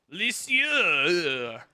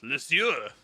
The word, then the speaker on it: Lisieux: Lisieux. That's how I pronounce that. It's not a French city, but I'm going to give it that French, like, guttural throat noise. Lisieux.